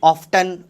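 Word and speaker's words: often: ऑफ्टन, ऑफ्टन होता है भैया, ऑफन नहीं होता है। ब्रिटिश इंग्लिश में ऑफ्टन प्रोनाउंस किया जाता है, हाउ ऑफ्टन, नॉट ऑफन, right.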